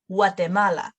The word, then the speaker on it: Guatemala: a little asterisk here these two may be read as w sound for guatemala guatemala like a w sound gracia no and we